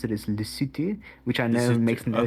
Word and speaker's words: Lesotho: right i don't know um but how we pronounce it is lucity which i know makes no sense i mean